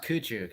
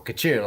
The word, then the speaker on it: Coutu: Coutu? I usually bludgeon things. It's pronounced Coutu. It's kind of like a sneeze. That's the best way I tell people. Coutu, right?